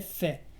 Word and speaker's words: fait: Entonces vas a decir j'ai fait. La T al final es muda.